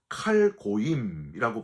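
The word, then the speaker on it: כל גוים: 여기서 너희 모든 나라들아는 히브리어로 칼고임이라고 발음을 하는데요.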